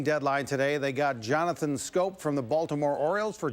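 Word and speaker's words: Schoop: today they got Jonathan scope from the Baltimore Orioles for Jonathan Villar and prospects Louis Ortiz and gene Carmona it spelled s CH oo P but it's pronounced scope 14 homers for D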